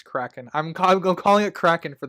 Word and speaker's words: Kraken: I literally just stop and go, all right, it's Kraken. I'm calling it Kraken for the podcast. I'm not gonna mispronounce Mr.